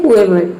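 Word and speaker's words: whoever: तो इन सभी में डब्ल्यू एच के बाद ओ आ रहा है और डब्ल्यू एच को यहाँ पे हम हा प्रोनाउंस कर रहे हैं। या फिर यहाँ पे जो डब्ल्यू है वह साइलेंट है, यदि डब्ल्यू एच के बाद ओ आता है तो वहाँ पे डब्ल्यू साइलेंट रहता है और एच को हम प्रोनाउंस करते हैं।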